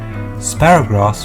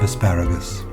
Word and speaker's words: asparagus: Sparagrass was a cheeky mispronunciation of asparagus.